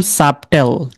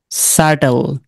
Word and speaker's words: subtle: তাহলে আমরা কি বলতাম, সাবটেল, তাই না? এটা হচ্ছে সার্টল।